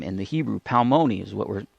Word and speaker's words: Palmoni: Palmoni is what we're pronouncing.